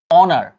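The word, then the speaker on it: honour: কিন্তু যখন আমি বলব অনার আমি কিন্তু ভাইয়া অনার বলছি হনার বলছি না খেয়াল করো যখন হরস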